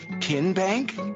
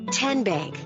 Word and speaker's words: TN Bank: the name tn bank no tin bank uh-uh so what is it ten bank ten as in tennessee right here where all